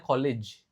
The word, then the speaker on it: college: Cara bacanya college. Kalau kolega atau rekan kerja itu kayak gini cara bacanya colig. Kalau ada S-nya colages. Jadi itu banyak orang yang enggak ngeh cara perbedaan pengucapan. Kalau kampus college, kalau kolega colleg.